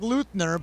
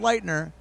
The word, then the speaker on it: Leitner: Looks like Luthner, but it's pronounced Leitner.